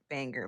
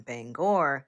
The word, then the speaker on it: Bangor: maine and some people you might have heard it pronounced bangor bangor but if you are from maine and people specifically from bangor will correct you and say no it's not bangor it's bangor next maryland maryland maryland some